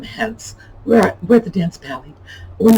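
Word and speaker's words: palais: This is from a French dance hall, dance pally. They were called pallies. That rhymes with alleys or galleys, and it's P-A-L-A-I-S, because that was sort of an Americanized French, and oh, aren't we elegant, we're off at the dance hall.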